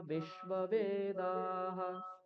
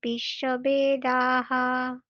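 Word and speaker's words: বিশ্ববেদাঃ: পৌষা বিশ্ববেদাহ স্বস্তিন পোষা বিশ্ববেদাহ ষষ্ঠিন পৌষাক বিশ্ব বেদাহা হুম বেদা ব্যাকারটা হচ্ছে না বয়কার হবে না বে বে নয় বে বিশ্ব বেদাহা বলুন বিশ্ব বেদাহা হুম ঠিক তারপর জুলি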